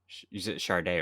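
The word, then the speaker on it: Sade: whole box set of how do you pronounce her name again because i've been saying it wrong for for like the whole year charday right yeah so she gave me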